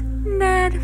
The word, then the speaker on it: Ned: My name is Ned Fulmer. I like the color red because red rhymes with Ned.